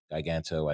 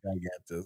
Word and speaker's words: Giganto: People pronounce it Giganto. I don't know. It's a pun on gigantic. It's Giganto.